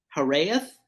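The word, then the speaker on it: Hiraeth: on uh Tide's end was I think it's harareth I'm not sure how to pronounce it h-i-r-a-e-t-h um I couldn't tell you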